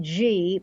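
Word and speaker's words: ghee: may not recognize it I call it G but I spell it G H EE it's like G I found a butter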